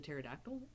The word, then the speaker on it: pterodactyl: a cousin to the pterodactyl i wanna i wanna be a pterodactyl is it spelled with a pt the silent p no i call it